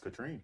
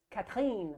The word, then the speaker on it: Catherine: My name spelled looks like Catherine, but you both know it's pronounced Katrine. That's right. It's really Katrine.